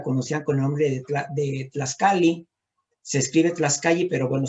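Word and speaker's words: tlaxcalli: En náhuatl, la tortilla la conocían con el nombre de Tlaxcali. Se escribe Tlaxcali, pero bueno, se pronuncia Tlaxcali.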